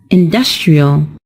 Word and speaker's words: industrial: the stressed syllable is also changed and it's pronounced as industrial we are affecting the water supply by using